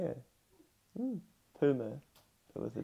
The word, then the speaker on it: Tuma: Mia, how do you reckon you say T-U-M-A as a name? Yeah, just like Tuma. Tuma, yeah. Tuma. I think so. It's like Puma, but it's a T. Yeah. Mm. Tuma, but with a T.